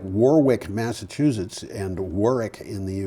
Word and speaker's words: Warwick: It's like Warwick, Massachusetts, and Warwick in the UK. And if you say Warwick, they laugh at you. Well, it's not quite Warwick. It's Warwick.